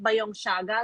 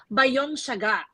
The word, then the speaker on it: By Young: Young I've learned that it's actually not by Young Saga like the designer designer um it's actually by Young that's the proper way of pronouncing the business and then we have